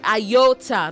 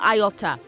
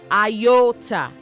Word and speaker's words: iota: Say iota. Not iota. Iota. Okay. Say iota.